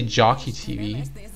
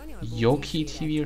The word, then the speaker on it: Jockey TV: You can pronounce it the Hungarian way, or you can pronounce it the English way, right? Some of them sound English, but yeah. Like, You could say Jockey TV, or you could say Yoki TV or something.